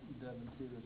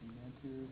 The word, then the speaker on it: Devantier: All Devontiers are pronounced Devontier, not Devantiers, not Devantiers. They are all Devontiers.